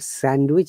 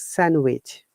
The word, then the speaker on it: sandwich: Similarly, it's not sandwich, it's sandwich.